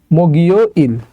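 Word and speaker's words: 목요일: এর জায়গায় চলে যাবে ওকে আচ্ছা তাহলে এটা উচ্চারণ হবে মগিও ইল মগিও ইল মানে হচ্ছে বৃহস্পতিবার এই গিয়কটা ইয়ং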